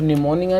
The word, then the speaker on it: pneumonia: तो निमोनिया जो है इसके अंदर बेटा पी जो है साइलेंट है।